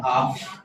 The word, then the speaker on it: half: इसमें एल का उच्चारण नहीं होता, बोलना बेटा हाफ एंड आर अगो आधे घंटे पहले।